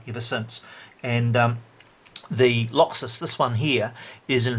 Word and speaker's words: Locxis: the Rev Barry AK Laxus so Laxus is spelled loc X is the Laxus is raspberry